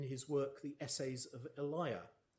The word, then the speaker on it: Elia: work the essays of Eliah which is apparently the original pronunciation though it now tends to be rhymed with Celia a line from the